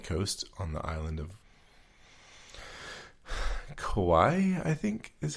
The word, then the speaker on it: Kauai: It's an 11-mile trail that's on the coast of the Nepali coast on the island of Kauai, I think is how it's pronounced.